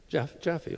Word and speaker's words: Jaffé: How do you pronounce your last name? Jaffé, okay. I'm sure that's not how they pronounce it in Brazil, but it's really great